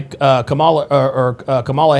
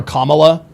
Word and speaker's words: Kamala: being mentioned in the, to being mentioned by Kamala Harris. And by the way, guys, I don't call her Kamala Harris, or I don't call her Kamala, okay?